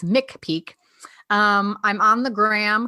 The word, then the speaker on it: McPeak: a K and it's mck Peak so like Pikes Peak but it's mck Peak um I'm on the